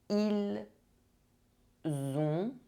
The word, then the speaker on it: ils ont: Ils ont. Elles ont. Do not mix up ils sont and ils ont. One sound is a se, the other sound is a the. J'ai, tu as, il a,